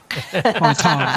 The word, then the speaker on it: Qatar: Or Lots of gutter.